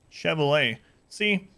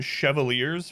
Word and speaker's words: Chevalier: See, in Darkest Dungeon, I've been calling them Chevaliers forever. This game is calling it Chevalier, so I think maybe for 2,000 hours in Darkest Dungeon, I've been mispronouncing Chevalier.